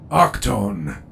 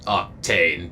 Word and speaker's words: Octane: Octone. That is how you pronounce it, yes? It's Octane, but yeah.